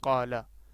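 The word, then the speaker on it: قال: pronunciation is about kala the Arabic pronunciation of this word is kala okay the next question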